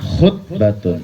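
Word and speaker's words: خُطْبة: Tapi kalau khoknya domah, khutbatun. Apa? Khutbatun. Apa? Artinya khutbah iya.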